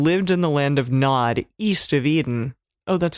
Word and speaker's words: Nod: So Cain went out from the Lord's presence and lived in the land of Nod or Node. I'm pretty sure Nod. Nod is usually how it's said.